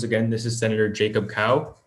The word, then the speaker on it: Cao: this is senator jacob cow last name is spelled cao and pronounced like the animal and i'm honored to